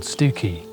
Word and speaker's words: Stiffkey: set off to and it's a place called stuki and yes it is actually pronounced that way even if it is spelled